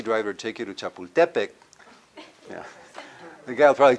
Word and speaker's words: Chapultepec: You know, the way it's supposed to be pronounced, huh? Everyone, Teotihuacan, as opposed to what? Teotihuacan. Chapultepec, as opposed to what?